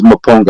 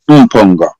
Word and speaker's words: Mponga: I don't think it's Maponga. I think it's Mponga. I think that's a correct pronunciation from an African point of view.